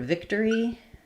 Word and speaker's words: victory: So um, that's not true in this word victory. Um, it's only three syllables. So it's the same as victor. We have the victory.